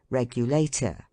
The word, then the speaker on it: regulator: transatlantic delicacy decidedly unquestionable words ending in ato are are commonly accented on the last syllable but one let them be as long as they may as respirator regulator renovator indicator and all